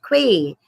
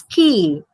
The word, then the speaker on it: quay: It's not quay, it's key.